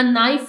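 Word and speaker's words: knife: गया है bring a नाइफ from the kitchen नाइफ में के साइलेंट है ए ऐड किया गया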